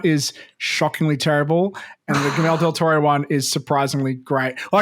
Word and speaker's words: Guillermo del Toro: But I've heard the Guillermo, how do you pronounce his first name? Del Toro's. Guillermo del Toro.